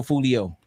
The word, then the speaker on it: Fulio: Julio Fulio. Like Julio Cesar Chavez.